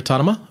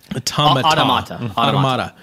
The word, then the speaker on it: Automata: Okay, Nier Autonoma? I gotta say it right or Jim's gonna like... No, that's close. I would count that as close enough. Automata.